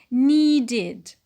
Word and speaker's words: needed: When it is in the past, we say, yes, we say needed, needed. N, long E, D, short E, D.